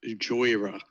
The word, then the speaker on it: Jhoira: It's pronounced Jhoira.